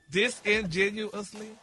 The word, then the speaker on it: disingenuous: disingenuously.